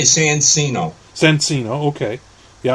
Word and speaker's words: Sancino: You can't, or you can say Sancino. Sancino, okay. Yeah, I would say Chino, because it looks like it's Italian.